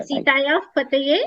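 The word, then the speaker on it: सीतायाः पतये: When you say Sita, see Sita Yaha, there is a visarga followed by a pa. Yeah. Okay. So you sounded like Pakara. Yes. Sita Yah. Yeah. Yes. Sure. Sita Yah Pataye is the will be the correct pronunciation.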